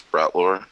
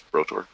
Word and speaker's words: Brotor: on your token yeah it says it says brought lore and my name is brotor I think I think